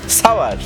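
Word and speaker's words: sour: একটা বহুল প্রচলিত ভুল উচ্চারিত শব্দের মধ্যে সাওয়ারকে অন্তর্ভুক্ত করা যায়। অনেকের উচ্চারণ সার বা সুয়ার মনে করেন, যা ভুল। পাওয়ার বা শাওয়ার, এর সঙ্গে ছন্দ মিলিয়ে উচ্চারণ করুন সাওয়ার।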